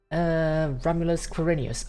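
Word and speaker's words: Romulus=Quirinus: Romulus Quirinius. Okay, so that's how it's pronounced, yes.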